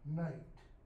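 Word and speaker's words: knight: Notice the difference between and becomes Modern English, night.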